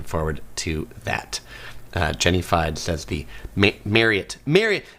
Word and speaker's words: Marriott: Everybody pronounces it Marriott except the company Marriott. Uh it is it is pronounced Mary like you're marrying somebody and then the word it.